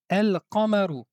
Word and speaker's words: القمر: derrière la lettre qaf, nous allons ici prononcer la lettre lam, c'est-à-dire qu'on va appliquer une règle qui s'appelle al idhar.